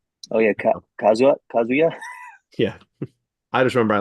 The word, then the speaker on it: Kazuya: If not, it just might be the Kazaya of it. Kazuya? I can't remember how to say his name. oh yeah, Kazuya.